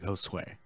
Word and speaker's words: Josue: He goes with Joshua, but the way it's spelled, you say it like Josue.